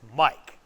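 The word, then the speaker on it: Miac: His name is Mike, even though it's spelled M-I-A-C. It's Mike.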